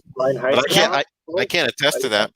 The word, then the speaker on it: Reinheitsgebot: So kind of what Brandon was saying about all the foreign words that are hard for Native American English speaker to pronounce, but Reinheitsgebot, I don't know if I'm saying that right, but the very impurity law.